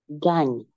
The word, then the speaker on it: gagne: Pero ya al hacer la conjugación solo vamos a pronunciar el radical. ¿Y cuál es el radical? Gagné. Entonces, ¿alguien que quiera hacer la conjugación todita? Je. Gagne.